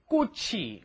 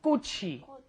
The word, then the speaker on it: 꽃이: Make sure your pronunciation is 꽃이, right? The chi moves up in front of the e, and that's a hard 기억 on there, right? Try repeating that one. 꽃이.